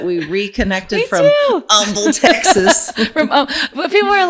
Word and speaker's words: Humble: But people are like, you went to Humble High School, or why don't they call it Humble High School? Because like they don't pronounce the H's. Yeah, the H is silent.